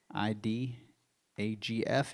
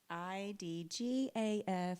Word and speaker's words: IDGAF: Breaking news from the Compound News Network, the IDAGF network, broadcasting. I don't think you said it right. What did I say? You say it. IDGAF Studios.